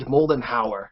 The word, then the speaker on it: Moldenhauer: You are Chad and Jared Moldenhauer. Is that how I pronounce it?